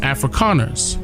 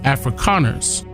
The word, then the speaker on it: Afrikaners: calling themselves africans but it's pronounced afrikaners with the k afrikaners and their native tongue